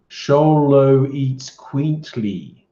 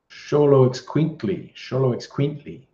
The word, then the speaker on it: Xoloitzcuintli: Looks like an Aztec sort of name, pronounced Xoloitzcuintli. Xoloitzcuintli.